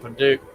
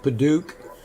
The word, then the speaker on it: padauk: I'm going to keep calling it Padauk.